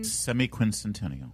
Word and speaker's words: semiquincentennial: Quinc semiquincentennial.